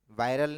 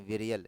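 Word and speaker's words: virial: इसका स्पेलिंग है बेटा विरियल, वायरल नहीं है, विरियल है, ठीक है।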